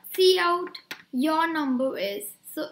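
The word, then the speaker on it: cout: is it said like say c and then out so see how it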